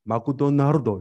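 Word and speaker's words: マクドナルド: 일본인들은 너무 혀가 짧아가지고 맥도날드 발음 못해서 마쿠도나르도 이렇게.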